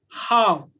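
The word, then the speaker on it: hao: right like the word h plus a u this is pronounced as how this is pronounced is how this is initial this is final when we put them together the pronunciation is how but individually the pronunciation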